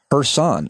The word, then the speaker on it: Kherson: I obviously wanted to get your take, was that the Ukrainian people have taken back Kherson, as you taught me to pronounce it.